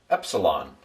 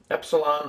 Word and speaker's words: epsilon: And we'll pronounce it E like pet.